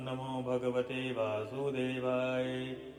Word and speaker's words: नमो भगवते वासुदेवाय: कल्याण को प्राप्त हुए यह मंत्र है ओम नमो भगवते वासुदेवाय तो ध्यान दे यह ओम नहीं है ओम